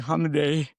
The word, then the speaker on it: Hamideh: Hamay.